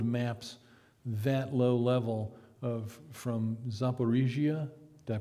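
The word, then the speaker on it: Zaporizhzhia: Well, it's been a while since I've actually studied detailed maps that low level from Zaporizhia, did I pronounce it right?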